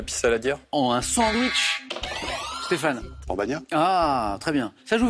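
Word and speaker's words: pan bagnat: Et c'est le pambagna. Ne dites pas le pain bagna, bien sûr. D'ailleurs, Stéphane a très bien prononcé.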